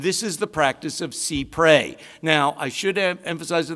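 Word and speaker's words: cy pres: emphasize to the outset i have heard many people i respect pronounce it psy pray that is technically not accurate it comes from a french phrase that begins with the words but it's a legal phrase in america and it's side prey here yeah well that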